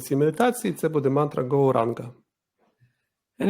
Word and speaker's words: Gauranga: Мантра, яку ми будемо використовувати в цій медитації, це буде мантра Gauranga. And it will be divided into 4 syllables, Gauranga.